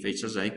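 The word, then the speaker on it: fetch_assoc: Y el más importante, tenemos el MySQLi, aunque es una palabra medio difícil de pronunciar, pero se pronuncia fetch asai.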